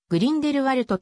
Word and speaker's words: Grindelwald: となっているなお標準ドイツ語ではグリーンでれ wald であるがベルナーオーバーラント地方大野発音からグリンデルワルトと表記されることが多い人口